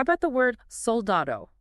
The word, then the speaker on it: soldado: how about the word soldado okay soldado meaning soldier Okay it's a lana word because the stress fall on the da okay but notice it